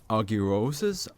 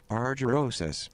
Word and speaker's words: argyrosis: Bonding with -1 will cause subjects to suffer from an anomalous form of argyrosis, which causes their skin to rapidly develop a distinct blue hue.